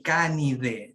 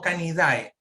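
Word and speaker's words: Canidae: aquí la familia canide ya se pronuncia de canide no calidad tampoco no quiero jamás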